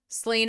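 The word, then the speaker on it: Slane: both provinces okay so if it's spelled slain theocracy slain s-l-a-n-e um I have no choice but to think about it like the whiskey so we're gonna talk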